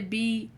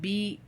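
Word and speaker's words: Beyoncé: I didn't say Beyonce. I said Beyounce.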